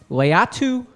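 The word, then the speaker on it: Laiatu: It's pronounced Leatu Latu, not Latata.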